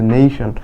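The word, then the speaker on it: nation: তাহলে উচ্চারণ কি হবে? নেশন।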